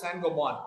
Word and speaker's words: Saint-Gobain: It is called Saint-Gobain in India, right? But it's a French company. It's pronounced as Saint-Gobain, right?